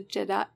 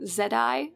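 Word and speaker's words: Je'daii: the founders of the Jedi. So it's spelled J-E'-D-A-I-I. I had to go look out how one might pronounce it, and it looks like Jedi or Zedai. Either one might be correct, according to some of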